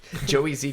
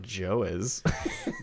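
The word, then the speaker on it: Joez: a podcast spelt like the reason why i had trouble with that is because it's spelled j-o-e-z j-o-e-z yeah so i was like it's not joe's yeah it's probably who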